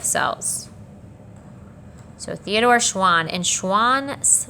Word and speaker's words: Schwann: so theodore schwann and schwann rhymes with swan and a swan is an animal so that's how i keep that one straight schwann swan animals all right uh so